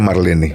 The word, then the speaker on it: Marlene: 97 y ahí sigue Marlene también no así es No y ella tiene su es Marlene así Marlene se escribe Marlene y ella lo pronuncia Marlene Ah entonces hay que decirle Marlene Es correcto Sí